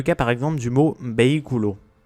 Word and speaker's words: vehículo: C'est le cas par exemple du mot vehículo. Si on suivait la règle, on devrait dire vehículo. Mais comme on a un hiatus avec le BI, on mettra l'accent tonique sur ce I. Vehículo.